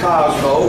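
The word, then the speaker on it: Kozmo: I was saying, is Cosmo. We spell it a little bit different to give him something a little unique. K-O-Z-M-O. Now, Cosmo was given that name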